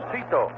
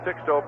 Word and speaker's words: Sixto: on Cameron night and asked six Lano how he pronounced his first name and he said Sito here's the one pitch